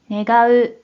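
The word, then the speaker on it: 願う: 그럼 이번에는 원할원에 대한 일본어 발음을 확인해 볼게요. 먼저 뜻으로는 願う、願う、 라고 있고 한편 음으로는 がん、がん、 이라고 발음해줘요.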